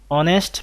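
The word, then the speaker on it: honest: যেমন হি ইজ অ্যান অনেস্ট ম্যান, অনেস্ট, এখানে প্রথমে এইচ আছে কিন্তু এইচ এর উচ্চারণ না হয়ে একটা ভাওয়েল সাউন্ড হচ্ছে অ, এই কারণে আমরা এখানে এন বসিয়েছি।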